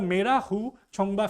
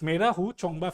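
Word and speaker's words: Mera Hou Chongba: okay now second is the meah chongba festival I pronounce I'm sorry but it's meu chongba Festival Manipur Oru recently had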